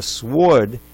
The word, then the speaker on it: sward: word that's a sword but a sward is a meadow believe it or not that's w ard you may not know that word but I needed that to rhyme with board so let's start again